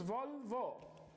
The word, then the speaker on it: Volvo: There is no OU at the end. It is Volvo.